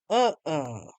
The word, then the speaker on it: uh-uh: While a closed uh uh emphasis on the first syllable means no.